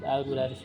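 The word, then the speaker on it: المدرّس: Guru dibacanya apa? Pakai tasdid al-mudaris. Karena kalau tidak pakai tasdid nanti salah gitu.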